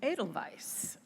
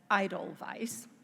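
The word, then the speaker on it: Edelweiss: requested that he sing adal Vice a family standard even though he mispronounced it as Idol Vice it was still still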